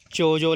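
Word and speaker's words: Chodzo: बट हम अभी एक लेक पे जा रहे हैं जिसका नाम है चोजो लेक। मतलब सी एच ओ डी जेड ओ एल ए के ई। प्रोनाउंसिएशन बहुत अलग होता है यार।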